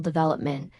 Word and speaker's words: development: The word is development. And English learners often say dvopment with equal stress on all syllables. When native speakers use a clear pattern dash v-op n with primary stress on the second syllable.